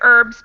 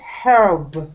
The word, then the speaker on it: herb: have heard this word herb like pronounced letter h sometimes it's pronounced with the h and i think ken